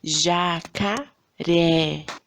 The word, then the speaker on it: jacaré: Jacaré. Qual que é a sílaba que a gente fala com mais entonação, com mais força? É a última, né? É o ré.